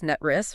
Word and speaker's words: NTREIS: We've got the fresh reports from NTREIS, that's NTREIS for anyone new, rhymes with hiss.